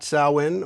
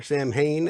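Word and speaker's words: Samhain: from where we got sauwin or Sam Hayne as it's spelled but also classically and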